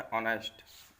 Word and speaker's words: honest: लेकिन जब इसका हम प्रोनाउंसिएशन करते हैं तो इसको ऑनेस्ट लिखा जाता है, आ बनाया जाता है इसमें सबसे पहले।